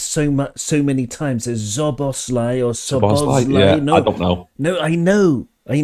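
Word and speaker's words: Szoboszlai: so many times is zos oros no no I know I know it's very easy cuz SZ in Hungarian is just s okay there's no Zed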